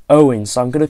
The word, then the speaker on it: Eoghan: name and you're thinking how on Earth do you pronounce that name I believe believe it's Owen he Owen I've again